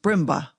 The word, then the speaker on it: Brindlebury: "My name, ma'am," he replied, "is Brindlebury. Brindlebury. Pronounced Brimba. The old Sussex name with which, ma'am, I have no doubt you, as a student of history—" Mrs.